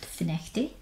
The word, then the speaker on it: Findochty: So, the Admiral's in a public house in a place called Finnechty, which is spelled Findochty, so make of that what you will.